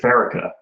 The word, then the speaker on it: Pharika: So I've always said it Pharika.